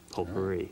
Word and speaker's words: potpourri: But I can hit this button labeled say and confirm that it is pronounced potpourri.